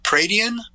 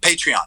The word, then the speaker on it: Patreon: Are you guys going to do, I don't know how to pronounce it, Pradian? Patreon.